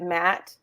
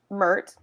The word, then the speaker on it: Mert: of thoughts about um is it matte in Istanbul so I kept calling you Matt but his actual name is the way she pronounces it yeah like even though my notes had to scratch it out because she says math okay mert I have so many